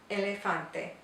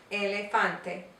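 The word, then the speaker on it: elefante: down a little bit make sure you don't change the way you're pronouncing it though don't make the a sound just sayante and then you can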